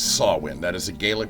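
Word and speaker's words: Samhain: Halloween series Mo the movie series called it Sam Hayne in the third movie it is not Sam Hayne it's sawin that is a galic pronunciation that's the way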